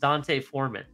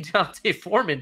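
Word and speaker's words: D'Onta Foreman: The reason I bring this up is because there's a guy named, and I believe it's pronounced Deontay Foreman.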